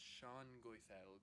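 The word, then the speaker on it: Sengoídelc: Oh yes, it's pronounced Shangoithelg.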